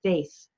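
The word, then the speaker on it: Fáeth Fiada: there is called the faith Fionna it is true irony that the first word is pronounced faith also known as the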